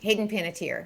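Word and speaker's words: Hayden Panettiere: Hayden Paniter.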